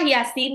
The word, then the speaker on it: Yasin: Jadi bacanya bukan ya pasti salah. Ya itu cuma dua harakat. Sinya yang enam harakat. Yasin. Yasin gitu ya. Jadi yanya dua harakat, sinnya baru enam harakat.